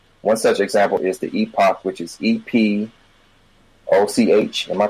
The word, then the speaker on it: Epoch: The Epoch Cassette Vision, 1981.